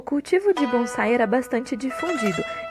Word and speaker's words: bonsai: A versão deles, que antes era chamada de Hachiue ou outros termos, foi renomeada como bonsai, a pronúncia japonesa do termo chinês penzai.